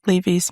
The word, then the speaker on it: Laufey: The link leads to a website with one video in which she pronounces her name, which is notoriously mispronounced, correctly. While this billboard doesn't directly promote Lay May's music, it does something better.